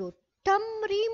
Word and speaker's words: التمر: كلمة التمر جاءت معرفة بالألف واللام، والتاء وحرف التاء جاء مشددا، لكن هل قرأنا الألف واللام؟ لا، قلنا مباشرة أكل التمر، قرأنا مباشرة التاء، ولم ننطق بحرف اللام في الألف واللام للتعريف، وأيضا راح نركز على الشدة.